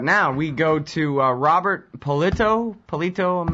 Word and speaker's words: Pallitto: Robert very well and how do you say your last name I'm sorry pollito pollito okay yeah I wasn't sure if the two T's meant that I had to shorten the eye or exactly how that goes but